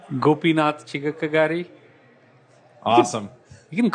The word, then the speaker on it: Gopinath Chigakkagari: bit different how do you say your name gopinatha chica kagari awesome you can call go pee go pee